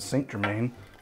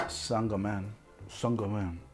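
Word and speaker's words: St-Germain: simple syrup um a quarter ounce of sangjomin i always pronounce it saint germain i just recently learned that it's pronounced sangha men song that's what i've been told the compt de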